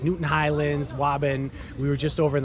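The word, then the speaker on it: Waban: section of newton um so think about that how would you pronounce it and yes i'm teasing people you know because how the outsiders talk about the towns in the areas of massachusetts so wabin we're in the wobben area of newton um like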